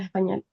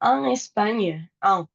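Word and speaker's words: Espagne: Entonces tenemos Españo, España, la GN es una ñ como en champiñón y lasaña, pero la e no se pronuncia o Españ si quieren tirarle ese cachito de e.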